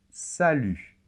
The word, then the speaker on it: salut: très caractéristique du français en général les consonnes finales ne se prononcent pas et il y a